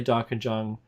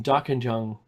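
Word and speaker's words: Dja Dja Wurrung: dark in young you might hear me say dark and jung because that's how it's spelt with a j-u-n-g but it's pronounced dark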